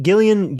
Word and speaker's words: Gillian: Oh, I always say Gillian because of the way it's spelled. I'm a fool. It's Gillian. Yeah. I interchange it in my brain. I constantly do that. I'm like, God, it's obviously Gillian Jacobs. Anyway, who's great.